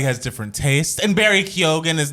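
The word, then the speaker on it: Keoghan: my God yes then this Barry kogan you pronounce it kogan hen yes fellow in saltburn yeah a young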